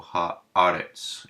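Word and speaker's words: הָאָרֶץ: Haaretz, and you hear the shorter E for the sigol, kind of in pet, and we put the emphasis of the word here, so Haaretz is how we would say that.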